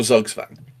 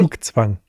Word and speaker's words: Zugzwang: I mean, the first one is interesting because, of course, it's pure Zugzwang, which, of course, I'm probably talking to a German.